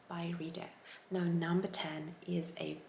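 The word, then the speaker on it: Byredo: this video i actually didn't know how to pronounce this brand name correctly i would say beretto or by redo different times i would say differently but after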